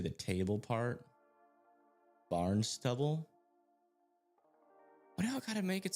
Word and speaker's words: Barnstable: Somehow you got Barnstable, which is Barn Stubble.